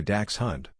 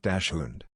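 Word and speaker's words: dachshund: it as Porsche dund it's apparently Dax Hun not Dash hun I feel like an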